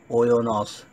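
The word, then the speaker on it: οἶνος: है ओनियोस, OINOS, या इसकी प्रोनाउंसिएशन के लिए ओयोनॉस, जो आप देख रहे हैं ओयोनॉस हम मान लेते हैं क्योंकि वो सही प्रोनाउंसिएशन है।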